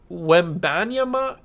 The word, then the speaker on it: Wembanyama: Victor Wembanyama is how you say that.